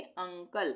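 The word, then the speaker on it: uncle: और यू के बाद दो कोसोनेंट हो गए। यह एन और सी दोनों कोसोनेंट है। ठीक है? तो यहां पर इसका उच्चारण क्या हो जाएगा? अ हो जाएगा। यानी कि यू एन सी एल ई को हम क्या पढ़ेंगे? अंकल। अ हो गया।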